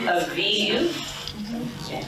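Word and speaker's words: אביב: She's saying Aviv, but it's spelled like this. It's a babe with no dot.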